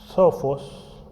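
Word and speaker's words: σοφός: Y por lo tanto hay otra palabra griega que es Sophos, más bien tiene un acento en la O.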